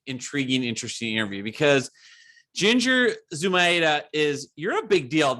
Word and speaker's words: Zumaeta: up your name so tell me how to say the last name go sumaita you did a good job hey okay that almost sounds italian but it's spanish right it is it's it's originally from argentina oh that's so cool